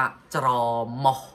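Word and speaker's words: ច្រមុះ: นะ จมูก นะ ฮะ แต่ หมอก เสียบ ว่า จะ รอ เหมาะ จะ รอ เหมาะ สม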